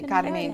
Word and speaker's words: Carmen: So I think, it also my name is actually supposed to be Carmen. Oh, is it? Yeah, Carmen, because it's Spanish.